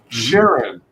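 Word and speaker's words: Charon: of the book alone yes uh is this pronounced sharon or sharon yeah sharon oh okay that was um so that's from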